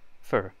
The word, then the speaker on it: for: dog and playing tennis don't say oh for instead say it more like the word fur but say it fast for for think of the